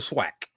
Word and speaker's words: SWAC: The Southwestern Athletic Conference, we say the swack.